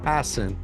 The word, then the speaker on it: Hassan: And then I tell producers, by the way, it's pronounced Hassan, and then the host comes on and mispronounces it. does it? Yeah, exactly. Well, I do my research, so I've got it, Hassan.